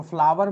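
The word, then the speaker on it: flower: तो फ्लावर में भी क्या होगा, आर साइलेंट हो जाएगा और ये आपका बनेगा फ्लावर।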